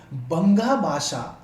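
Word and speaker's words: বঙ্গ ভাষা: था, जिसको हम लोग बंगा भाषा, और ये बंगाल की ही भाषा है तो कुछ इस तरह से इसका प्रोनाउंसिएशन होता है दोस्तों।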